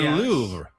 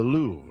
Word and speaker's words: Louvre: That's the the Louvre. Pretty good. Yeah, it's the Louvre. The Louvre. There's almost a at the end but not quite a The Louvre.